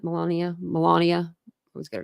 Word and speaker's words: Melania: President former president Donald Trump alongside his wife Millennia Mia Melania I was get her name wrong sorry Melania you're not around a lot